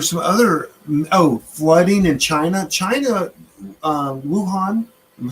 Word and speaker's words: Wuhan: Wuhan.